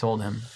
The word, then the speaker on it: Oldhim: How do you say it? It's Oldhim. It cannot be Heim. No, not unless there's a mark over the I.